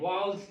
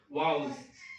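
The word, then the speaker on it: vowels: जो केवल 5 जो होते हैं वो स्वर कहलाते हैं, वावल्स जिसे बोलते हैं। किस, क्या बोलते हैं, वावेल। इसको वावेल्स नहीं, इसका सही प्रोनाउंसिएशन क्या करोगे, वाउल्स, वाउल्स, वाउल्स, हाँ वाउल्स।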